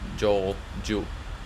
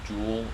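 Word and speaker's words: Jool: that fast unlike elo i say joel yeah that's what that's how i pronounced it um when i was new to kerbal space program i pronounced the jewel instead of joel so uh yeah i've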